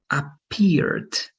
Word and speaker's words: appeared: Appeared, right? If you don't have then a T or a D before the ED, then it's only going to be appeared, right? Appeared, that T.